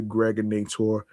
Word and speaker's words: Gregor Nator: I'm your man, aka the Gregor Nator. Rhymes with now and later or now or later, of course.